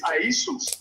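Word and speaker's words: Ἰησοῦς: The Greek pronunciation of it is Iesous.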